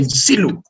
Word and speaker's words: Nsilu: Nsilu, in Congo we say Nsilu. Nsilu is just as you see on the screen. And we will be speaking to you about this. And planning and Nsilu, those are the secret